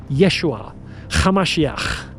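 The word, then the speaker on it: Yeshua HaMashiach: His real name was Yeshua Kamashiach. That's how you pronounce it in Aramaic.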